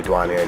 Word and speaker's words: Duhjuanyay: A lot of my friends from Muskegon, when I moved here, called me Duhjuanyay just because I spell it duh, and then like D-U-H, then wan, and yay.